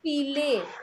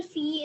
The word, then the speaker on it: filles: They is the article and feel is the noun. Feel. You don't pronounce the L. It's fee.